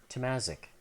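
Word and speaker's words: Tomazic: Tamasic.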